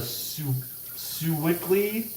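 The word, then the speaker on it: Sewickley: is out there in allegheny i've been to sue wickley that's the name of how you pronounce it but i was only there because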